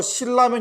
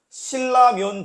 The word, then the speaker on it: 신라면: 얘도 이제 아주 꿀잼인데 신라 슈퍼에 가서 신라면 좀 사가지고 와라.